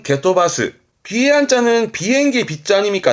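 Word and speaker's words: 蹴飛ばす: 그걸 좀 더 길게 본다면 발음은 게토바스.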